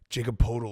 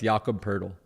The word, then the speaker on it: Poeltl: resume, I don't care that Woj got like Jacob Podol or whatever he got traded. Jakob Poeltl. Yeah. What? It's Jakob Poeltl.